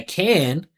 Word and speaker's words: can: There's two ways to pronounce it. You can say I can, right, with more attention on the vowel, like, or you can say I can. He's in between. He's in no man's land.